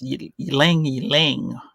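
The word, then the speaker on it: Ylang-Ylang: Now, the reason is because they have a large production of, I don't know how to say this, it's YLANG slash dash YLANG. I guess it's Ylang Ylang.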